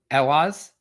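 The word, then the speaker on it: Ehwaz: I pulled 2 runes together, and it was Iwaz and Rado? Okay, so Ewaz and Raitho.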